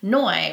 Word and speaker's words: Noe: Then the next shade, which is Noi, it might be Noe, but in the Hawaiian language, it's pronounced Noi, which is actually like the shortened name for my sister.